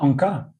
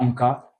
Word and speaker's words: Anka: bien sûr, il y a Anka.